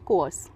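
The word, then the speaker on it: coerce: शब्द का प्रयोग करेंगे कोस कोस आर हल्का सा साइलेंट रहेगा इस तरह से प्रोनाउंस करेंगे हम सेंटेंस में देखते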